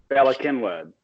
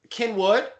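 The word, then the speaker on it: Cynwyd: Speaking of weird spelling and pronunciation, insane. The damn river. How about the Bala Kinwood? Yeah, Kinwood. Okay. Yeah, so they say Kinwood.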